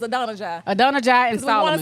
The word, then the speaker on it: Adonijah: So Google told us it was Adonijah.